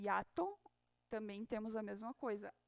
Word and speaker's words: hiato: E, por exemplo, na frase diptongo e hiato, também temos a mesma coisa. A sílaba que vai ter a tonicidade mais forte é o A. Diptongo e hiato. Aí não parece que fica hiato, fica hiato.